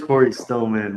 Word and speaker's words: Cory Stillman: that how you say his name it is Corey Stillman well done so Cory man had 880 points